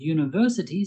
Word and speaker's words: university: The U at the beginning of university sounds like U, a consonant sound.